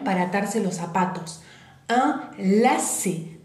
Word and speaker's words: lacet: Un lacet. Fíjense, termina en T, la T en final, ya dije, no se pronuncia, y es la C, C.